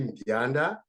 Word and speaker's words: Mbianda: Mbianda. So the Mbianda, most often people have difficulty. You can just have the M silent. It will be easy to pronounce.